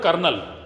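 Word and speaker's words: colonel: You take the example of a word kernel. C-O-L-O-N-E-L. How did you write and how do you produce?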